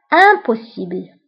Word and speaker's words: impossible: ضده غير ممكن أو impossible. هنا عندي IM ولكن كنقراو هاد un.